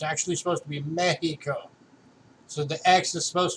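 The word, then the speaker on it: México: pronounces the beat Oklahoma say Mexico Mexico's not actually pronounced Mexico it's actually supposed to be Mackey Co so the axe is supposed to be pronounced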